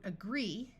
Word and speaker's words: agree: we have the root agree this awas that's why it sounds like uh instead of a and e e has a long e sound agree if you don't agree